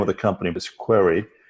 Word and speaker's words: Querai: The name of the company is Querai. It's spelled Querai, like you're running a query with artificial intelligence built into it.